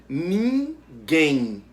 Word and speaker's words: ninguém: Ninguém. O quem é a sílaba pronunciada com mais força, a sílaba tônica. Também é a última. Então, a palavra ninguém é oxítona.